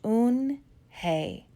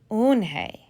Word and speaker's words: Unhei: she nodded slowly yes it's pronounced oon hey and it means grace mr kim added unhei joey said slowly and